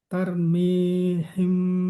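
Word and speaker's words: ترميهم: arsala alaihim thirron ababil tarmihim tar ro ada huruf tipis ada huruf tebal ta huruf tipis ro huruf tebal maka bacanya dar tarmihim tarmihim bihijaratim min sijjil.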